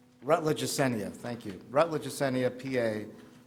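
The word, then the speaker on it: Ecenia: Chair, the superintendent recommends that the board approve the renewal agreement for consultant services with the Kinea, which I think I've mispronounced - Rutledge Assenia, thank you.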